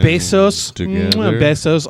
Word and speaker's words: Bezos: here so i'm so glad so congratulations jeff bezos our geek of the week i think it's spelled the same way oh it's not it's